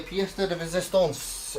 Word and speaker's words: pièce de résistance: Finally, the pièce de résistance is this.